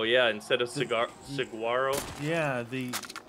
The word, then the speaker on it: saguaro: No saguaro. I told you about that, right? Saguaro, yeah, instead of cigar, saguaro. Yeah, the pronunciation of the cactus out here.